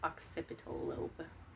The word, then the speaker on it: occipital: It's pronounced occipital lobe.